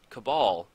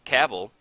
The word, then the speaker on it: Cabal: still to this day every time I get down cabal coffers I have to stop for a second and think about it to make sure I'm saying it right I don't know why I would call it Cabell I finally finally one